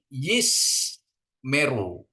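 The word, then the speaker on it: ישמרו: ini Bapak Ibu ya jadi bacaannya ini Yis Meru ya is Meru ya Jadi ini silentnya itu tidak dibaca e jadi artinya dia silent atau dihilangkan gitu ya jadi yismeru ya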